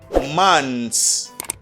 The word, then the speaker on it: months: for the flower and for the plural you don't pronounce the th sound okay you don't put out the th sound you just say months months january and february